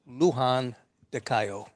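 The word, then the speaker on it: Luján de Cuyo: in an area called Lujan de Cayo. Say that again? Lujan de Cayo? Or pronounced Englishly, Lujan. Lujan. But Spanish, Lujan de Cayo.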